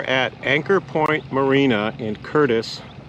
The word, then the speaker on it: Curtice: anchor point marina in curtis ohio that's curtis spelled c-u-r-t-i-c-e ohio and it is a